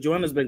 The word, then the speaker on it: Johannesburg: No, but Johannesburg.